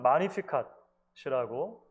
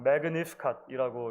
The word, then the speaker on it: Magnificat: 오랜 기독교 역사 속에서 이 마리아의 노래는 마리아의 찬가 또는 마니피캇이라고 불려져 왔습니다. 영어식으로 읽으면 Magnificat이라고 읽기도 하는데요. 원어에는 마니피캇이 훨씬 가까운 것 같아요.